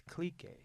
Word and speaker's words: Clique: Click Vodka. I think it's Clique. That's how they Oh. pronounce it. Oh, is it Clique? Clique, yeah. Is that the French pronunciation?